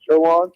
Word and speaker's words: Chowan: That's how I figured out it's pronounced Chowan.